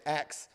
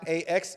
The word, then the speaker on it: Acts: When I was small, I got teased because I would say Acts. My mind went to that. Yeah, Acts on Stage. So it's not AXE, it's ACTS. Acts on Stage.